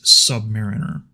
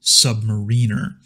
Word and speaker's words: submariner: You're also hearing me pronounce this word as submariner, but you might meet a subvet who pronounces it submariner. Both are correct depending on who you talk to.